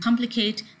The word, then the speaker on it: complicate: So here you see these verbs which are ending in 8 as in complicate and indicate, the stress is always on the first syllable.